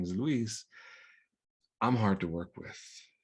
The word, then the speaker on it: Luis: pronounce my four-letter name i was louie i was louis but i was never luis and if i insisted on being called luis if i reminded people that my name is luis i'm hard to work